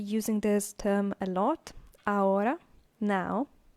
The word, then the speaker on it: ahora: So, ahora means now. Remember this, because we will be using this term a lot. Ahora, now. Ahora, remember the H is silent.